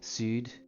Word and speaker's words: sud: Sud, you don't ignore the D.